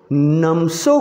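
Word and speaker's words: Namtso: नमसो कोरा, इसमें टी वहाँ पढ़ोगे तो फिर एम और टी के बीच में कोई वॉवेल नहीं है, तो उसको साइलेंट करके पढ़ेंगे, नमसो कोरा।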